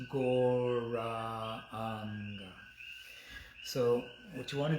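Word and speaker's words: Gauranga: And we're going to stretch it out into 4 syllables, Goranga.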